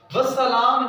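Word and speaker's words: والسلام: वस्सलाम जो है वो है वाव अलिफ लाम सीन। इसमें अलिफ और लाम जो है इनकी आवाज़ नहीं है, ये साइलेंट है।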